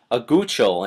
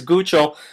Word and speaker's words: Guchol: But let's look away from the stationary boundary at Tropical Storm Guchol, and that is how you pronounce it, though I've had issues with this all day.